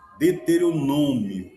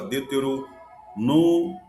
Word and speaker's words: Deuteronômio: Então, são palavras que a gente, ó, outra, né, Deuteronômio. Aí tem pessoas que fala Deuteronôimo e não é.